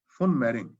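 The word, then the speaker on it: von Mering: ये वी को F pronounce किया जाता है जर्मन लैंग्वेज में, तो जोसेफ फुन मेरिंग, इसीलिए फॉक्स वैगन बोलते हैं, वॉक्स वैगन नहीं बोलते।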